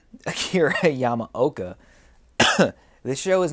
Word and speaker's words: Yamaoka: the soundtrack by akira yama how do you pronounce his name yamaoka this show is not easy to produce now